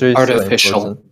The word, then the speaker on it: artificial: right let's see this artificial yeah yeah yeah the the primary stress is like on facial or the facial yeah thank you okay so